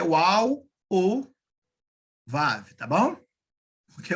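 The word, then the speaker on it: וָו: É Vav, ó, assim, ó, Vav. Não pode ser Val, tá? Eu vi uma pessoa pronunciando Val.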